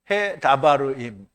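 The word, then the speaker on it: הַדְּבָרִים: 자 히브리어로는 그 앞에 그 해가 붙었어요. 그래서 해 해 해죠. 그니까 여기 모음이 없으니까 그냥 해라고 해도 돼요. 근데 이걸 굳이 하라고 발음하는 사람도 있더라고요. 그리고이 달레트는 다 발음이라는게 드모 이렇게 되는데요. 그래서 도드라고 할 때는 오라는 이게 발음을 모음을 붙인단 말이죠. 그런데 이거 다 모음을 누가 붙였냐면 마소라가 붙인 거잖아요. 그러니까 마소라가 붙인 대로 꼭 따라하지 않아도 돼요. 그래서 해다바르 임이에요.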